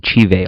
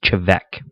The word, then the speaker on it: Te Bheag: And I guess I've been saying it wrong even still. I guess it's Te Bheag. I've been saying Te Bheag all video. It's Te Bheag.